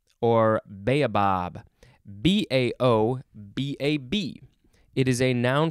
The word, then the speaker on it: baobab: a determined often reckless act now we have bow bob or baobab b-a-o it is a noun from 1640 a